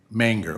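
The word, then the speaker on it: Mingr: Just to check, the M-I-N-G-R, they pronounce it mayor? Minger? Manger, okay, I didn't hear, I thought you were saying mayor.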